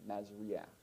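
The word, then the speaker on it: מזריע: Remember, that's a furtive pathak, so you pronounce it before the I, Masria.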